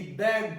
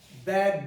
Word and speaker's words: begged: But you don't pronounce the E in the past of beg, which is begged, not begged.